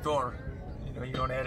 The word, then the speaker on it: Thor: Thor is actually Thor. Thor. And whenever you have the rado rune at the end of a word, it's a hard R. It's pronounced, it's rolled actually Thor.